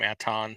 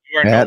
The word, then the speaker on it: Anton: love the fact that you pronounce his name Aton. From now on, Jason, you are Atten.